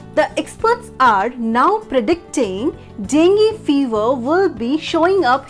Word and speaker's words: dengue: n g e e j let's understand this pronunciation with an example the experts are now predicting dengue fever will be showing up here soon so